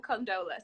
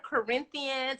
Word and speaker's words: Condola: If y'all don't stop calling her Corinthians and conditioner and condolences. Credenza. Somebody said control.